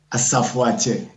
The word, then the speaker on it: Asafoatse: My name is Asafoatse. You know, and Asafoatse is like a warlord.